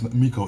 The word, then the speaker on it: MICO: So, but I also, too, actually like Michael better. That's Miko.